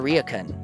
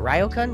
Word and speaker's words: ryokan: and I stayed in a Rican is it ryokan ryokan yeah I just played Leo